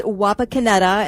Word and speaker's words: Wapakoneta: It's Wapakoneta, and the locals Wapakoneta.